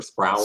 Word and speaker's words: Sproul: It's pronounced with an O. Sorry, Sproul. I don't know. It's that U at the end that gets me. It looks like Sproul or something, or Sproul. Sproul. It's Sproul.